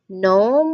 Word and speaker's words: gnome: Now there is also another word here, gnome. It's another one where the beginning letter of the word is silent.